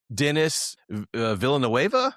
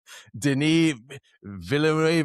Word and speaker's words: Denis Villeneuve: Like Denis Villeneuve. How do you say his name? Villeneuve. Denis Villeneuve. Like, just cough at the end and you're good.